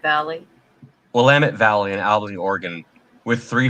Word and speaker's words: Willamette: heart of uh will willamette how do you pronounce willamette willamette valley willamette valley and oregon with three fires all being